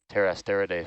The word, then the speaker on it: Pterasteridae: It's yeah, not sure of the genus and species on this one, but it's probably in the Pterasteridae family, which again is this one of those silent P, PT.